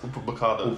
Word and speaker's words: Upamecano: I think it's pronounced Upamecano.